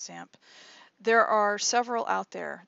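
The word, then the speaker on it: XAMPP: web database package called zamp or it's looks like x amp but it's pronounced samp there are several out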